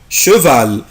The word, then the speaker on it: cheval: cheval le cheval بصوا بنطقوا ازاي يا اولاد cheval. اخلي بالي لا لتر سي بلس لا لتر اش يعني السي والاش لو جم ورا بعض بنطقهم le cheval يعني الحصان.